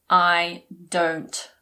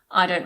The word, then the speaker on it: don't: mind is very polite you might have noticed that I didn't really pronounce the T I didn't say I don't mind when we speak we normally swallow it so we say I don't mind I don't mind